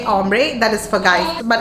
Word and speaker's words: hombre: H is silent. So you say hombre, that is for guys.